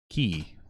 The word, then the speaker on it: Key: I like Keegan Michael Keys more is that how you say it Keegan Michael key he's only one key sorry person I gotta